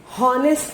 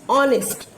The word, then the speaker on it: honest: हमें honest बोलना है, honest नहीं, क्योंकि जो H word है वो silent है. तो whenever we say that man is honest, not honest. Got it students? The H alphabet is silent.